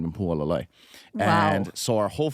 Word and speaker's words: Hualālai: Hualālai. Hualālai.